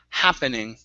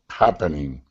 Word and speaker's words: happening: We're looking at the vowel. Instead of ha, it's ha, happening. Happening.